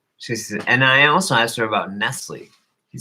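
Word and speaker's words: Nestlé: And I asked her about, she said, and I also asked her about Nestle. She said, yeah, it's spelled with an S at the end. It's a silent S.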